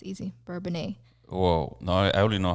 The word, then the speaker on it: Bourbonnais: Bourbonnais. Okay, why does that, like, when I look at the word, it seems like I can't pronounce it. But when you say it, it's like, oh, it's easy. Bourbonnais.